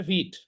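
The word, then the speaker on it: Vite: এটার উচ্চারণ কিন্তু ভাইট না, এটার উচ্চারণ হচ্ছে ভিট।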